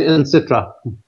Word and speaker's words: Encitra: Is that how you pronounce it, Christer? We say Encitra.